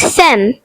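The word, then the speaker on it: femme: The next French word is fem which means woman. The silent letter is e.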